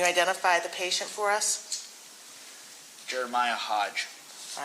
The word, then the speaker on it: Jeremiah: Jeremiah Hodge. All right, and I think it's Jeremy is what we've been told is how it's pronounced.